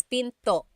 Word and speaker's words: pinto: And remember, don't forget the glottle stop. Don't forget to stop the sound at the end. That's called a glottle stop. Pinto. It's not Pinto, it's Pinto.